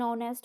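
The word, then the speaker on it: honest: है की इसमें जो है बोल है और ऑनेस्ट में इसमें भी आप साइलेंट होता है अक्सर जो है बच्चे इसी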